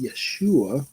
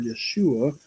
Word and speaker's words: Yeshua: kind of interesting that name Joshua is in the original Hebrew is pronounced Yeshua I'm sure you've heard that before Yeshua which translates to in